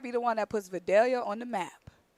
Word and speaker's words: Vidalia: Vidalia. Oh, see you. You even got the pronunciation wrong. City of Videlia.